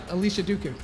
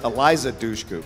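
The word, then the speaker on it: Eliza Dushku: her name it's um hold on it's uh Alicia Dooku am I pronouncing that right I'm not going to give you Alicia Dooku uh it's Eliza duchu two point steal for Roa so John Roa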